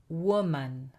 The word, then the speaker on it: woman: Well, the singular of that word, one woman, woman. So that first O, that O is pronounced O, woman.